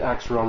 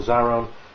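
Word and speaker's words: Xaaron: And yes, I too pronounce it Axeron rather than Zaron, since when does a X sound like a Z?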